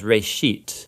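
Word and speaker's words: רֵאשִׁית: It's pronounced reshit, and it just means beginning.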